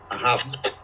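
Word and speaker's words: אָהַב: palabra amado significa, bueno, se pronuncia ahab, que es amar.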